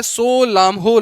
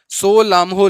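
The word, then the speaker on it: Tso Lhamo: जिसका नाम है सो, ये टी साइलेंट रहता है, सो लामहो लेक, सो लामहो लेक, ठीक है।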